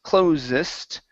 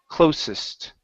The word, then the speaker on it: closest: clo whoops closest okay let's use then unvoiced s close closest closest closest uhhuh yeah with an unvoiced S um because close with the z sound that is the verb okay and a verb will never end with an EST ending like that okay this is an